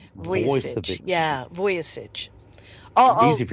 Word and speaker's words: Vujicic: Nick Vujicic, by the way, is the way his name is pronounced. I've been following How do you say that last name again? Vujicic. Vujicic.